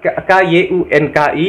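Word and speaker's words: क्योंकि: Kata sambung karena itu dalam bahasa Indianya itu kyunki, tapi tulisannya K-Y-U-N-K-I, dibacanya kyunki, guys.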